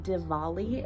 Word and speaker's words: Diwali: celebration of the holiday diwali it looks like a w but it's pronounced like a v and that is a